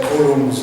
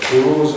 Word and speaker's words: Coulomb: I know most of you say Coulomb's law. Coulomb is a Frenchman, and the French will not pronounce the M again, so it's Coulomb's law.